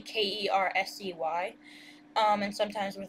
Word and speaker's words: Kersey: So, because my last name is Kersey, KERSEY, and sometimes with like passwords or usernames, we'll spell it KERZ, and like, but I put it like as a capital Z, so it's not like Kers, it's Kersey, and then the little